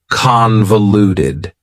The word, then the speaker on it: convoluted: for you is convoluted convoluted also has four syllables and the stress is on the first syllable convoluted that second syllable again has that schah sound that reduced vowel sound uh convoluted convoluted if something